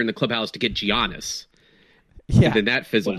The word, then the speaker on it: Giannis: Since when did we start pronouncing it with a hard G? Or is this are you guys doing Gianna Michaels? It's Giannis. It's Giannis.